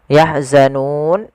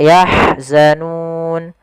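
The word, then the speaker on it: يَحْزَنُونَ: ya membacanya yahzanun dan sebelum huruf yang dimatikan yaitu sukun aridnya itu ada huruf mad baik itu Alif wau atau yaah ini yahzanun ini asal madii yahzan karena kita matikan sukun ini menjadi sukun Arid maka mad di sukun panjangnya berapa kita boleh membanjangkan dua harakat EMP harakat ataupun en harakat maka yahzanun atau yahzanun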